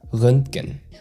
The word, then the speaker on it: Röntgen: And it's quite a unique sound. The umlaut Ö makes a big difference here. And the NTG sequence in the middle can feel clunky if you try to pronounce each letter separately. And the trick here is to soften it into a single flow. Röntgen. So the T in the middle is very subtle.